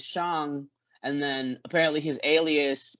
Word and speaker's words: Shang: in my head but everyone in the movie says shang and then apparently his